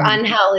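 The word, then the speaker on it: Ángel: or how' you meet his name's Angel correct yeah or onhell is the proper Spanish anell my listen I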